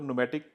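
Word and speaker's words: Pneum: तो न्यूम जब कस्टमर को बोलते थे ना, तो कस्टमर को एक बार समझाना पड़ता था, न्यूम पी साइलेंट रहता था एक्चुअली।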